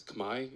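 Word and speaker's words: Khmer: the kimer civilization was is kimer pronounced today as Kamai in the Cambodian language you can ask a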